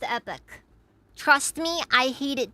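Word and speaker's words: Epoch: Also it's pronounced epic.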